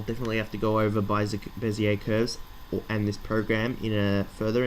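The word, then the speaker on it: Bézier: Sorry, not Bezier curves, Bezier curves. I pronounce it Bezier for some reason.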